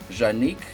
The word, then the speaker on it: Juanique: we're like twin souls janique which rhymes with unique and boy is she